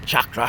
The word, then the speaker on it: chakra: chakra in my body, or chakra, I beg your pardon, for the correct pronunciation please, chakra, all the way through.